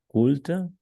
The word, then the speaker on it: culte: Les films français, je connais plutôt les films, on les appelle cultes Oui, ou culte. Fais attention à la cultes.